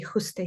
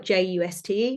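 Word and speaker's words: Juste: full name is Jose is spelled j-u-s-t-e no one says it right the Spanish say Jose this English say just I've been called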